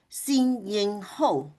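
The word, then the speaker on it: Sin-Ying Ho: So they translate my name into sing yingho or you can uh pronounce the last name first ho ying but I also has a English name called.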